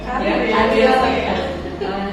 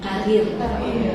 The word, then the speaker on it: karier: Karier. Ibu Eni sebagai wanita karir, salah, bukan karir, tetapi karier.